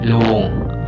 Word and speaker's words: Luwung: yang masih berbentuk hutan di dalam bahasa Sunda Hutan biasa disebut lowong kata itu dalam pengucapan masyarakat Cirebon menjadi Luwung hingga saat ini Pangeran